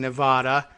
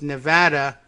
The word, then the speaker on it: Nevada: out well of course the correct pronunciation really should be based on the Spanish name for the state and we should be saying Nevada as I always used